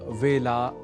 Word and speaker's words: वेला: यहाँ वेला के ए अक्षर के उच्चारण में तो सामान्य रूप से अशुद्धि कम ही परिलक्षित होती है, पर हमने आपको बताया ही था कि कई बार हम में से कई व को ब के रूप में समझने की भूल